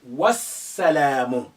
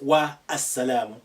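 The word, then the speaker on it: والسلام: You say wassalamu, not wa as-salamu. Now the alif is silent because it's not at the beginning. There is a letter before it. The lam is silent because we have the sun letter after it, which is carrying shadda, and the shadda has an embedded sukun within it. So they're both silent for different reasons.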